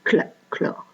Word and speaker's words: chlore: Pour le chlore, c'est Cl, puisqu'on ne prononce pas le H, on dit chlore.